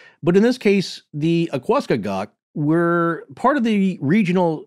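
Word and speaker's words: Aquascogoc: In this case, it's spelled A-Q-U-A, so like aqua, and then C-O-G-O-C. So to me, Akwaskagak. Yeah, there right.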